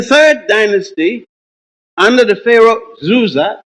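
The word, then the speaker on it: Djoser: Dynasty under the pharaoh zuza d-j-o-s-e-r otherwise called sir s-e-r which the Greeks could not pronounce and they called dooza d01 amen this man the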